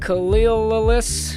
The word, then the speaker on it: Khalil: I'm here today with my co-hosts, Nicholas Boyle, going formal, and Khalil Farah. Is that? That's right. That's how you pronounce it. That's it, Khalil?